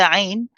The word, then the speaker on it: عين: So when we join the letter āyn, when it is sakina, we say ah. So what you notice this time is when you're pronouncing the āyn, you go to the same part of the throat that you did with the ha, but this time you squeeze.